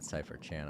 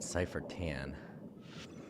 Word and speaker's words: CypherTan: Not CypherChan. I think I said CypherChan. I meant CypherTan.